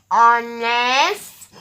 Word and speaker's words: honest: You will hear a vowel sound starting these words. Let's do it together now. Honest, honor, our, and air.